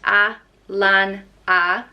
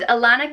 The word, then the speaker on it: Alanna: the next name is Alanna and is pronounced ah lon ah so very easy to pronounce and Alanna can mean beauty or